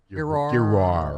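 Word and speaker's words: Giroir: Remember Brett Gerard? Oh, yeah. Yep. He worked with Dr. Furrier and Dr. Huffar, Yes. as you recall, on the COVID task Yeah. Yes. force. Pardon me, Gerard. Gerard. Gerard. It's French.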